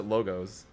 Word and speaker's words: logos: It's Greek, so you pronounce it logos.